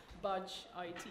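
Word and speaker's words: BudgIT: on the case of budge it is that how I pronounce it budget budget okay um and second up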